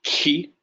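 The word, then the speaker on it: χ: the recording that well, kind of a rough sound at the beginning where you're more or less swallowing your spit, sort of a guttural sound.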